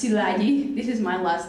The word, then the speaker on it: Szilagyi: names there is mine it's pronounced silagi this is my last